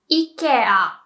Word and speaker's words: Ikea: Japanese people would say Ikea, Ikea, which I think is very close to the proper pronunciation. So that's how I think Swedish people would pronounce, like Ikea, maybe. I've also heard a lot of people pronounce it like Ikea, and no, Japanese people pronounce it more like the Swedish people. Ikea, Ikea. But I must say, when I speak English, I would definitely say Ikea, and I should be saying Ikea.